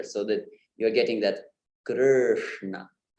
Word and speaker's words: Krishna: yeah, So when you do that flip of the tongue on that R with the dot below, what remains is that that English sound, yeah. So Krishna, but of course we do not prolong it in Krishna. We do not say Krishna. We say Krishna.